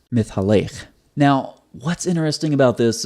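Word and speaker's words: מתהלך: You see walking here in Genesis 3:8 in the English, and then this is over here in the Hebrew, and it's pronounced mithalech.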